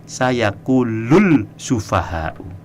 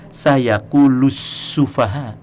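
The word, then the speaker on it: السفهاء: Dia tidak baca begini, sayaqulul sufaha'u. Tapi dia bacanya benar, sayaqulus sufaha.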